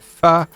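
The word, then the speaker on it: phở: It's not usually the main event unless we're talking f you know that ph. It's how you spell it, but you say it. Fu.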